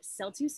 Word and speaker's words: celtuce: this delectable phenomena um just a quick aside celtuce is spelled s-c-e-l celtuce and it is lettuce and